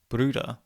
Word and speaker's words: Brüder: With the R being pronounced as the English R, and the rounded U being pronounced as the unrounded E, Brüder becomes more like breeder, which of course is already a word in English.